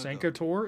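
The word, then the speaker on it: Sancre Tor: Santor is how that's pronounced.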